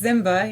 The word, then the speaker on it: Ziemba: Ziemba. Am I right? You're close. It's Ziemba, yeah. So I tell people to think of Lion King, Simba, and just add a Z.